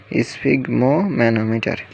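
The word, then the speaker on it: sphygmomanometer: স্ফিগমোম্যানোমিটার। উচ্চারণটি ঠিকভাবে করুন, স্ফিগমোম্যানোমিটার।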